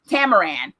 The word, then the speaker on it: Tamaran: the show started but their home planet right tamaran yes their home planet tamaran now in the